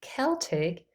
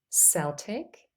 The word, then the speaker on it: Celtic: here is an example the word Celtic or Celtic can be pronounced with C or S Celtic Celtic to summarize the letter